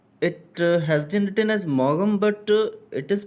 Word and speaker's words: Maugham: It has been written as Maugham, but it is pronounced as Maugham.